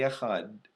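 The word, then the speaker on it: אחד: that's just clearly enunciated don't press it too hard so it doesn't sound like a tee but just say a HUD and that's kind of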